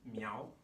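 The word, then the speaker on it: 苗: Miao is very similar to mao, right?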